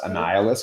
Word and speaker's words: Annihilus: in the Marvel let's it's pronounced Annihilus because it's short version of annihilation which means the destruction